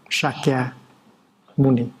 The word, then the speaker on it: Shakyamuni: Bây giờ mình phải đọc lại cho đúng. Shakyamuni, Bụt Shakyamuni, đó là tên đúng của Ngài.